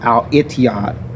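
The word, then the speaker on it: الاتحاد: And Etihad is actually pronounced Al-Ittihad in the Arabic language.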